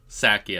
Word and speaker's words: Psaki: Psaki, I think it's Psaki. Is it just Psaki? I always want to say Psaki, but I guess you don't say Pfizer.